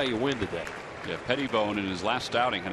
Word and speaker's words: Pettibone: But the correct pronunciation, as Jonathan told us the other day, is Pettibone, like Tom Petty.